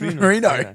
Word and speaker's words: Reno: That's Reno. Italian. It's Reno.